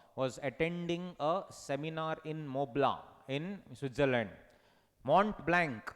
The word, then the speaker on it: Mont Blanc: homie j baba was attending a seminar in mobla in switzerland mont blanc not montblanc mont blanc